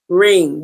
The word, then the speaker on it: wring: the water out, you, sounds the same thing as wring.